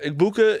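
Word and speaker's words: Egbuka: Igbuka, did you see? How did Gronk pronounce that? Gronk, Igbukiki. Oh, Something yeah. like that. Igbuka, though, is like Big boo.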